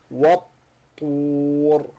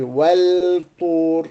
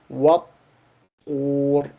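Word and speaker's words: والطور: And the surah starts with wat-tur wa kitabim mastur. So the Quran doesn't say wal-tur, no, not wal-tur, but wat-tur, wat-tur.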